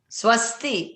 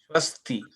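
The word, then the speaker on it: स्वस्ति: You pronounce the S, sha. Would you say shavasti? Or is it savasti? Swasti, right? Swasti.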